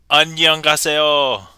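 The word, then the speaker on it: 안녕하세요: I believe that's pronounced Anyangaso. which is Korean.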